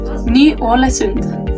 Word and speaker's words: Ny-Ålesund: Please pronounce the town for me. Ny-Ålesund. Ny-Ålesund.